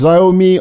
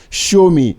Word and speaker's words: Xiaomi: are we number two show me if you have been pronouncing this word as zomi or anything else the corrent pronunciation is show me the closest English phrase to remember it is show me so show me show